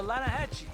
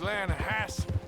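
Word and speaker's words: Lannahechee: some beautiful steelhead trout you mean atlanta hassie river no no no no no the the lana hatchy it runs right near here yeah but it's pronounced land hassle why is everything in english said differently than it's written make us feel stupid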